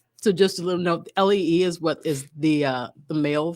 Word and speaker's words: Lee: Somewhere along the road, I got it in my head that it is Lee, but that you spell it the other way, L-E-I. Oh, that's still pronounced Lee. Yes, but sometimes people are. Sometimes it is Lay. Yes, I've seen it both ways, and so I